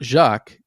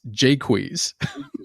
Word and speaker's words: Jaques: character in it, and his name's Jacques, but it's not Jacques, it's Jaques. And because if you know anything about iambic pentameter, he actually creates it's a 2-syllable word in iambic pentameter. Okay. So it's Jaques, blah blah blah blah blah. So you can't say Jacques.